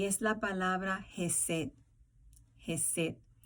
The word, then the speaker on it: Hesed: Y ese legado se trata de una palabra hebreo y es la palabra Hesed. Hesed. En español, la pronunciación se escribe J-E-S-E-D, Hesed.